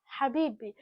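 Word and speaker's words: حبيبي: love this is how you're supposed to actually pronounce that habibi.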